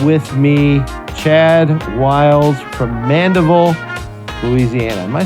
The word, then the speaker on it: Mandeville: But Mandeville is the right way to say it. Mandeville, good.